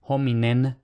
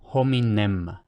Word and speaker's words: hominem: Entonces, por ejemplo, hominem, intentamos no pronunciar hominem, sino hominem, cerrando los dos labios.